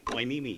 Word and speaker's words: Hueneme: I go like, knee, and I point to my knee. E. And me. Yeah, E, me. Hueneme, yeah, right.